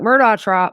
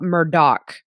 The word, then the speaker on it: Murdaugh: down to the Low Country for the Alec Murdock Murdock by the way I'm going to say it